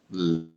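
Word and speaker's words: Lam: A gente pronuncia assim, ó. Lã.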